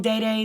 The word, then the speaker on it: Dede: I keep saying Day because that's how it's pronounced, but I've been calling it DD for years and it's so hard to reprogram my brain.